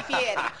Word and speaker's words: Fieri: Fieri.